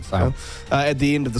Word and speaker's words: Sale: Sale? That's how you pronounce it, isn't it? Yeah, Sale.